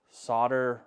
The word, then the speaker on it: solder: Solder rhymes with soldier. What? You guys with these rhyming? Soldier. It's solder. Everyone knows it's solder.